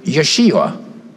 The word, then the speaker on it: Yeshua: by way of the Hebrew word Yeshua like josua I'll spell that for you they spelled in several different ways but the way I have it here is j e H oos h u a Yeshua like Joshua Jesus comes from that